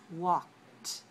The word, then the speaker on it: walked: sorry the first column the words don't pronounce the e just pronounce the d sometimes like a and sometimes like a listen carefully and repeat walked walked i walk today